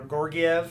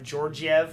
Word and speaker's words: Georgiev: shrechnikov uh you know gor or gorgiev instead of georgiev i mean like i